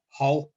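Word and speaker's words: hrw: You might know this word from Middle Egyptian as heru with an R, but the R was lost in pronunciation because of this de-rhoticization phenomenon where like syllable final R's were lost.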